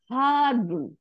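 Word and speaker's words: حَارٌّ: হারুন, হালিফ জবর, রর পেশ সাদ্দা দিয়ে দুই পেশ, হারুন মানে হট।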